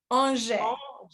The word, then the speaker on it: Angers: It's Angers.